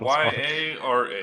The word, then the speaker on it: Yara: have something but I don't know how to pronounce what I wrote down then I do back get Act y a r a oh yes y a r Yara was she